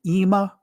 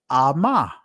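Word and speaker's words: אמא: For mother is Ama, but both has the Allah part of that. Now I know many of you guys would say Ima, but the ancient Hebrew is Ama.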